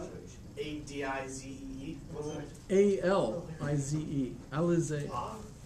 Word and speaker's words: Alizé: How do you spell it? ADIZE. A-L-I-Z-E. Alizé. Alizé.